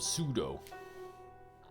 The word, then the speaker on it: pseudo: Yeah, that's where the name comes from, pseudo. Without the P.